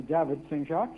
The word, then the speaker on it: Saint-Jacques: So, or let me pronounce that correctly, David Saint-Jacques.